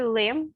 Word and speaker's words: lema: dizer alguma coisa é perto lá a palavra lema o problema é porque como pronunciar se parecer com um pronunciaste o ar